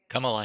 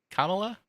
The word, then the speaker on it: Kamala: Kamala Harris is actually uh, the sponsor, or Jared Nadler, but Kamala Harris, I think, was the sponsor in Senate.